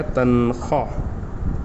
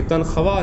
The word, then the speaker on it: تنخواہ: ये हमारे पास क्या बन गया? तनखा। ये तनखवा नहीं है। ये तनख्वा नहीं है। तनख्वा उसको पढ़ना है। ठीक है? वह ऑलमोस्ट में तकरीबन साइलेंट होता